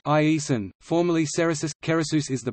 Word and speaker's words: Giresun: Giresun, pronounced Iesun, formerly Ceresus, Keresus is the provincial capital of